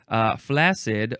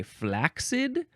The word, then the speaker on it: flaccid: Flaccid. Oh, people also like to say flaccid with a K sound, flaccid. I think they don't know how it's pronounced.